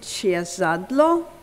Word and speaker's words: Ciezadlo: Annia, I never asked you how you pronounce the last name. Is it Ciezadlo? That's correct, right? Annia Ciezadlo. Annia Ciezadlo spent most of the past decade living in